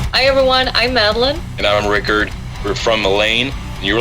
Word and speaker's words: Rikard: And it's not Ricard, it's Rikard. I made sure I pronounced that correctly.